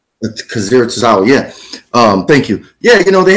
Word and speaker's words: Akira Tozawa: Brooke, damn, I don't want to mispronounce his name. Kawasaki? Akira Tozawa. Akira Tozawa, yeah.